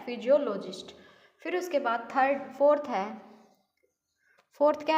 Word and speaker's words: psephologist: Spelling देखो भाई, PSEPHOLOGIST। ठीक है, फिजियोलॉजिस्ट।